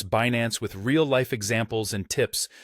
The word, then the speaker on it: Binance: The most widely accepted pronunciation is Binance. You can break it down phonetically as B-A-Nens. Notice that this version places stress on the second syllable, pronounced as Nance.